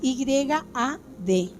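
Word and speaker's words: יד: En el hebreo original es pronúncienlo como quieran, pero es Y-A-D.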